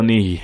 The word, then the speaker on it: Nighy: bill me he no that's not how he pronounced it is it's bill knee isn't until dick he